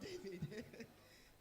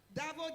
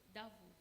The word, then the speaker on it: Davo: Sorry, not David. Davo. I'm happy that it's another female. I thought it was a male. Hi, Davo. Did I get your name correctly? How's it pronounced? Davo. Davo, yeah.